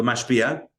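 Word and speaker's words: משפיע: In English, I would spell it M-A-S-H, like the TV show. Mash, but mash, and then pia, P-I-A, like the car, but totally different. So mashpia, and the mekabel is M-E-K-A-B-E-L.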